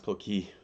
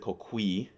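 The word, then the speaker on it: Coquí: of reasons one uh not everybody can pronounce Ki correctly most of the time they pronounce it cqui um which is understandable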